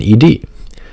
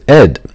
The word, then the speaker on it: ed: I've pronounced Ed as Ed but it turns out that the proper pronunciation is in fact e d as noted by Brian